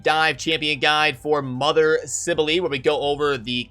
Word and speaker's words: Cybele: When I saw when the champion announced, I was like, Mother Cybele, Mother what?